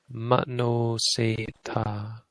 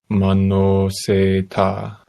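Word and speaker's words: manoseṭṭha: And these are retroflex, so make sure your tongue is curled back. Manoseta. Manoseta. Seta. Seta. This one, so the stress is on the se. Manoseta. Seta. Manoseta. Seta. Manoseta. Manoseta. Manoseta. Yeah, so kind of say this one like you're angry. Seta. Seta. Because you're putting stress on this one.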